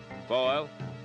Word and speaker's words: Foil: uh foil. Joe Foil rhymes with oil.